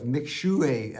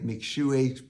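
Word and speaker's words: Mixue: And what they offer, as their name says, and it's M-I-X-U-E, but it's pronounced something like McShui.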